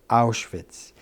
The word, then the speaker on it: Auschwitz: Polish Azari engine and the Germans pronounce it ours wits and I was in